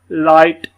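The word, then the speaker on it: light: लाइट, हाइट, माइट, नाइट, ठीक है। इसको हम ये समझ लें कि ये GH जो है ना ये अक्सर ही साइलेंट एक किस्म का हो रहा है यहाँ पर।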